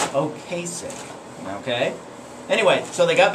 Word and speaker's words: Ocasek: And I mispronounced the guy's name. I want to apologize about that. Rick, I guess it's Ocasek.